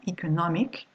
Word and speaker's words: economic: If I take this one, economic, okay, you've got the ik here, so it's the syllable just before this one, which is stressed.